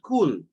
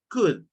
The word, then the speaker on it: could: And then remember, it's not cool, it's could. Cool. Could. La L no se pronuncia.